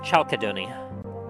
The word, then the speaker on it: chalcedony: You recognize it as being chalcedony. I'll spell that for you.